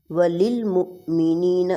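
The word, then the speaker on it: وللمؤمنين: ربنا اغفر لی ولوالدی وللمؤمنین۔ اب واو کو للمؤمنین نہیں کہیں گے، واو پر حمزہ اور حمزہ کو جھٹکا دے کر پڑھا جاتا ہے جب وہ ساکن ہو، وللمؤمنین یوم یقوم الحساب، یقو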